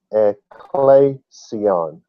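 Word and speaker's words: ἐκκλησία: will restore my and the greek word is a CLE a clay see on a clay see on you hear ecclesia there the restoration of his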